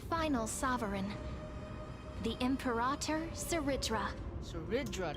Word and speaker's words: Saridra: Saridra, that's how you say it.